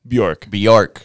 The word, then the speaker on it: Bjork: If you guys are down to get into that, so Bjork, is that how you pronounce it? Bjork.